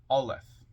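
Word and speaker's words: aleph: you who don't know a l e p pronounced alth transcribed as a the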